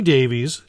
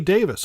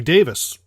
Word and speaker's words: Davies: could be wrong because Ray Davies as we call him in America is actually ray Davis us Americans take DAV IES as Davies well guess what Ray Davies is actually pronounce ray Davis and so maybe IVA